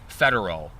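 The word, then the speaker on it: Federeau: Rick Federer, and Wick is spelled W-I-C-H-T, and Rick is R-I-C, Federer, F-E-D-E-R-E-A-U. I had to think about that. E-A-U, so it's French. Federer.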